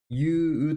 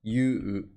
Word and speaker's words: 勇: kind people I これ勇者この感じはユと読みますユ You You this 感じ is you means Brave